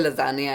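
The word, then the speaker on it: lasagna: मुझे समझ नहीं आता ये लजानगा मतलब स्पेलिंग इसके लजानगा है और इसको बोलते हैं लजानिया है।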